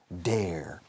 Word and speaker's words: dare: Dare, escrito dare, se pronuncia como care, bear, wear, dare.